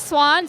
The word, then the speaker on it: Swan: Okay, so my name is Swan, so it's a Korean name, pronounced like the bird swan, and it actually has like the Chinese character behind it, which means to be like comfortable.